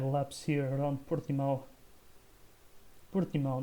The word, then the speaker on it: Portimão: Portimão, that's how it's said properly in Portuguese.